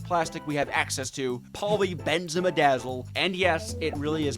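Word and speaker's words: polybenzimidazole: Polyphenol sulfide and the most advanced plastic we have access to, poly benzimmaadazzle. And yes, it really is pronounced like that.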